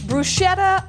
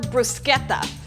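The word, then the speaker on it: bruschetta: do a box that will grow on you brushetta or brusketta no matter how you say it this is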